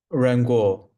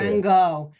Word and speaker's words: Ran Gao: Oh, I think I've mispronounced it. Ran, correct me? Rango, not the doctor. Ran Gao.